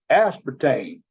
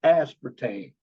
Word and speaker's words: aspartame: Going back, aspartame, that is how you pronounce the artificial sweetener that replaced saccharin because of cancer. It's aspartame.